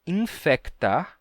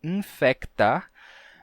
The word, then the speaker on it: infectar: verdade pensa em português no Brasil a gente diz e infectar a gente pronuncia né o c a gente diz infectar mas a gente diz desinfetar né o desinfetante desinfetar e não desinfectar a gente não compra